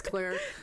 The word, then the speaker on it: Clear: Thanks, Claire. Spelled clear. Because like the subtitles, it's like clear. No. Like clear water. But it's pronounced Claire.